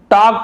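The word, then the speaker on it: talk: ही टॉक, यहाँ पे देखिए टॉल करनी पड़ेंगे, एल भी यहाँ पे साइलेंट है, टॉक पढ़ते हैं, टॉक, अब पास्ट टेंस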